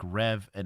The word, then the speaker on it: Revan: Uh Like rev an engine, Revan. Wait, so So it's spelled Revan, but it's said Riven.